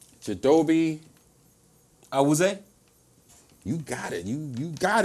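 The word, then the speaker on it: Chidobe Awuzie: You know how to pronounce his name? Chidobe. Awuzie?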